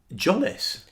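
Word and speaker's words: Tzolis: Jolis? Apparently that's the way you pronounce it. Oh, I'm so sorry. I think Zolis worked, but apparently it's J. Zolis. Apparently it's Zolis with a hard J.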